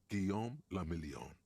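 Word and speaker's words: Guillaume Le Million: meant only one thing guillaume lamillion if it doesn't rhyme you're not pronouncing it right out of the dazzling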